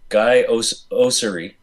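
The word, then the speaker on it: Guy Oseary: Guy Osiri.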